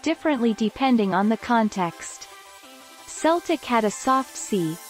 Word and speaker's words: Celtic: letter c is always coo and celtic is celtic with a hard c said harbeck the same